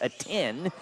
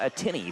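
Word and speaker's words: Ateny: There's a Y at the end, but it's pronounced a 10 and not a tinny.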